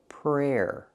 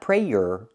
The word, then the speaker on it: prayer: to to say your prayers now we have the noun prayer prayer you have the air sound like hair and chair prayer not prayer but prayer before going to bed